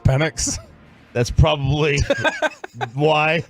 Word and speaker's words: Penix: Is that because people don't know it's pronounced Penix?